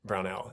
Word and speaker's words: Brownell: And I'm saying this to the audience, too, because I haven't gotten a chance to actually meet Brownell. And I guess I should ask, am I pronouncing your first name correctly?